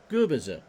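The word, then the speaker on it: Gubicza: And just for anyone watching out there from Florida, specifically the Sarasota area, it's pronounced Gubiza.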